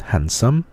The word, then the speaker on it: handsome: satisfied, 아픈 sick, 멋있는, 잘생긴 handsome, D 사운드가 그 단어 중간에 나오면 D 사운드가 소리가 안 나는 경우가 있습니다.